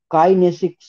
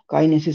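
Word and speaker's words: kinesics: ঠিক আছে, সরি, এটা ভুল হয়েছে, কাইনেসিক্স হতো, কাইনেসিস করে দিয়েছি। এটা ভুল হচ্ছে, আমি KINE SICS, এইটা হবে কাইনেসিক। KINE SICS, ঠিক আছে, উচ্চারণটা এইটা হবে, কাইনেসিস করে দিয়েছি ওটা।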